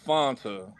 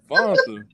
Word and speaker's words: Fanta: You gotta pronounce it with the long A, not the short.